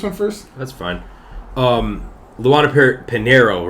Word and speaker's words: Pinheiro: Luana Pinheiro, right? That's how you say it, Pinheiro? Yeah.